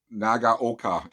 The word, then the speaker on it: Nagaoka: so happy with this is the uh nagat nagaoka and i finally said it right nagaoka mp110 um my wife bought this for me